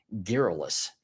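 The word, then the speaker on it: garrulous: We're back and the word of the day is geralus. Geralus. Geralus. It's a tough I keep pronouncing this one wrong because it doesn't look like that when I spell it out, but it does mean containing many or often too many words.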